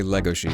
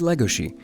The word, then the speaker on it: Legosi: in the anime dub we do say Lego she and Ben can tell you better why it's has something to do with a Hungarian pronunciation of the letter s but yeah it is Lego she oh but you know